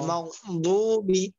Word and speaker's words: المغضوب: অনেকে মাগদুবি পড়বে, অনেকে মাগজুবি পড়বে। দুটোটার মাঝামাঝি বলতে হবে, গয়রিল মাগদুবি।